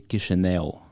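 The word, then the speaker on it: Chișinău: but the right way to say would be kishel Kish Kish this is the right Romanian word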